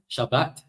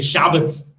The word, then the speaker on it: Shabbat: And finally, the Ashkenazi would just say Shabbos. How Germanic. So whereas everyone else knows to put the emphasis on the right syllable, the emphasis on the right syllable, the Ashkenazi put the emphasis on the wrong syllable.